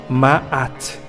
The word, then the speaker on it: Maat: o ein está empregado pelo antebraço Então se pronuncia maat deusa maat e o determinativo da deusa que